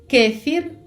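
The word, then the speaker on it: kefir: контрасти іхієне кефір. Зверніть увагу, що кефір в іспанській мові має наголос на голосну е. Кефір.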